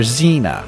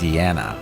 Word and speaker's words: Ziana: And everybody called her Xena because that's what they thought it was, but it's not. Mrs. Gimby says, no, it's Ziana. It's 3 syllables, it's not 2.